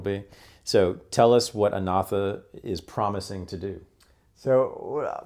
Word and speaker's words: Anatha: Okay, so the name of the startup firm you're working with is, I always forget the pronunciation. Anatha.